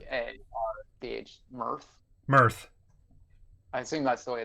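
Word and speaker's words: Mearth: Mirth. I assume that's the way they're pronouncing it. Like Earth, but with an M? Mirth sounds cool. It's like Earth, but with an M at the front.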